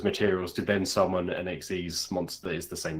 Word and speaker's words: Xyz: week, which is the XYZ, which is XYZ Xyz. Is that the canonical way you're supposed to pronounce that? Xyz, yeah. Chase, I regret to inform you that it is, yeah.